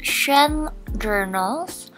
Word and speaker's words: xuanjournals: and i'm not so my name is pronounced shen journals so it's basically so because my chinese name is so i use my chinese name and friend and then put journals at the back because i love journaling